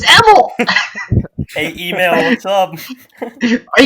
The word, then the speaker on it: Emil: My name is spelled Email. Emil, and it's either email, Emil. It's Emil.